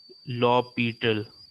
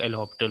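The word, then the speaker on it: L'Hôpital: India में पढ़ा जाता है और सही तरीका इसको पढ़ने का है लॉपीटल। जो करेक्ट वे है इसको पढ़ने का, उस रूल को कहा जाता है लॉपीटल। ये ऐसा गूगल पे भी दिया हुआ है, इसको करेक्ट प्रोनाउंसिएशन इसका लॉपीटल है, लेकिन जनरली हम लोग एल हॉपिटल बोल देते हैं।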